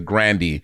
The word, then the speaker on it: Grande: all call ariana grande her name isn't her last name is not grande it's grandy well she's like everyone's